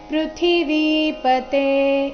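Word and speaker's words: ಪೃಥಿವೀಪತೇ: ಪ ದಿಂದ ಶುರುವಾಗ್ತಾ ಇದೆ ಪೃಥ್ವಿಪತೆ ಇದರಲ್ಲಿ ಥಿ ಮಹಾಪ್ರಾಣ ರಸ್ವ ವಿ ದೀರ್ಘ ಬರಬೇಕು ಮೂರನೇ ಚರಣದಲ್ಲಿ ಆಘಾತಗಳ ಮೇಲೆ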